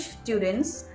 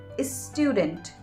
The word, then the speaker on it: student: So they would say is student, is still, is style, and that's not a correct pronunciation. You should rather say student, still, style.